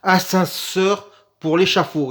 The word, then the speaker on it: Ascenseur pour l'échafaud: passe l'assenseur pour l'échafaud je vais le répéter le titre parce que je viens de le prononcer comme un sagouin ascenseur pour l'chafaud et oui il faut articuler donc de Louis mal